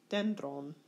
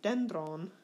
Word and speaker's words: dendron: Dendron. You'll notice in this particular word, there's an acute accent on the penult. And when the acute accent is on the penult, it stays there and never changes.